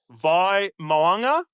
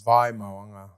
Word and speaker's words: Vai Moanga: So, Vai Moanga is Vai Moanga. Vai Moanga. That's it. So, Vai like vying for control, Mo like mowing the lawn, and Na like the last three letters of Kalen Ponga.